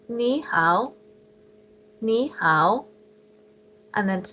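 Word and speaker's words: 你好: these so to say hello you would say ni how and then to say how are you you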